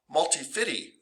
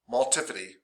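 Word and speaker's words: multifidus: school student once who goes that sounds like uh multi-fitty and so we all started saying multi-fitty because it sounded like 50 cent and that was really cool for a whole year of high school and now i can no longer say them correctly um but it's multipity and rotatorys anyway what's cool about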